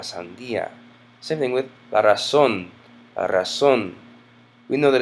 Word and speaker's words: razón: Same thing with la razón, la razón. We know that it's not razón because it has a written accent mark. It makes it razón.